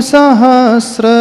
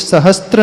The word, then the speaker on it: सहस्र: सर्वा शोध धती भानि सहस्र रसम एक और गलती यहां पर होती है सहस्त्र नहीं है वह सहस्त्र जिन सहस्त्र